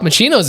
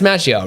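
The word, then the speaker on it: Macchio: now you're confusing me I know that's pronounced differently machio M I don't know you're maio I think it's machio Ralph ma machio sounds right yeah jeez I can't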